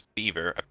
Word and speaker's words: Biver: yes I think oh we've been mispronouncing Biver it's beaver and so beaver um